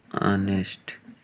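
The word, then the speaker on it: honest: इसी तरह से इसमें भी कुछ ऐसे शब्द हैं जिनकी शुरुआत कॉन्सोनेंट से होती है लेकिन उनकी उच्चारण वॉवेल से होता है। देखते हैं जैसे एन ऑनेस्ट मैन, इसको आप क्या पढ़ते हैं, ऑनेस्ट। तो इसकी शुरुआत आपकी स्वर शब्द से होती है, इसलिए इसके आगे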